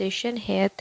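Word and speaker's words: ہیئت: नजम बल हाज यत यत भी इसको प्रोनाउंस करते हैं और हत वैसे इस सही प्रोनाउंस यत है लेकिन दोनों तरह से ठीक है अब नेक्स्ट वीडियो में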